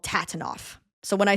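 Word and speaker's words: TATINOF: you know, this fandom, no fandom in the world loves an acronym more than them and pronouncing the acronym phonetically. So the book is called Tabanoff and the tour is called Tatanoff.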